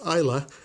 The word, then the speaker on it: Islay: there yeah unfitted nut Islay that's actually pronounced ila Scotch malt or a